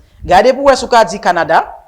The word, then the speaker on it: Canada: Gardez pour ce qu'a dit Canada, Canadian. So pas garder staircase là. So pas garder staircase là. Ou connaît premier syllabe là, OK? La stress.